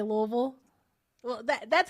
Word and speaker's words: Louisville: you say it there's there is no other way to say Louisville other than Louisville that's it it's not Lewisville it's not Louisville it's Louisville that's how you say it thank you Naya for